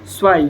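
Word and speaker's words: zwei: आपको बताए थे टू को बोला जाता है स्वाई जेड डब्ल्यू ई आई। तो वैसे ही पहले टू को हम लिख लेंगे।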